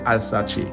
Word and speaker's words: Alsace: 11e siècle en Europe, plus précisément côté que Alsace. C'est la prononciation comme ça, c'est ALSACE.